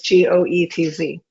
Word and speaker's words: Goetz: And in Goetz, the O is silent. So it's Goetz.